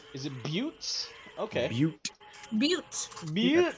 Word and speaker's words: Butte: That's how it's pronounced. Is it Buttes?